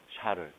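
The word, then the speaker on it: Charles: 아, 그게 저기 샤례 법칙인데 샤르는 프랑스람이에요. 그 영호시로 발음하면 어떻게 되지? 찰스가 되고요. 그래서 영어로는 이게 찰스로 배워요.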